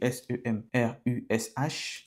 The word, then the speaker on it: Semrush: Ça s'écrit s E m r u S h.